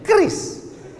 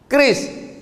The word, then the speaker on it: QRIS: Cara bacanya gimana sebetulnya? Kris. Q-nya quick. Quick artinya cepat. R-nya response. Kris. Quick response code.